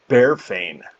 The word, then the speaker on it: Barefane: on that one um my name as you'll find out later is actually pronounced barefane i'm going to write